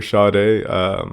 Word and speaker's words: Sade: pronunciation I would always I would see the name s-a-d-e and of course I would always say like say it and never and never shade but I heard the